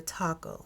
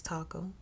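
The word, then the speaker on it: Takoo: But Taco, T-A-K-O-O, Taco, I believe it's Taco. That's how they pronounced it in the video.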